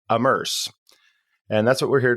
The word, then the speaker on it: AMMERSE: the and I think I said it incorrectly so let me correct myself the immerse framework which is spelled am M RS e amerse and that's what we're